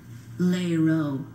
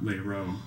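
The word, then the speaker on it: lerot: Lero. Lero. No. Lero. Lero.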